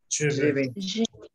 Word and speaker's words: je vais: Je vais. Porque la A y la I se pronuncia es je vais.